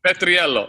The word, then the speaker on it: Petriello: How do you say it? Petriolo. He's Italian. Petriello. I just wanted to point out, Petriello.